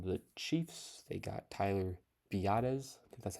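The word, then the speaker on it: Biadasz: Nick Alig from the Chiefs they got Tyler beades that's how you pronounce it from the Cowboys they still have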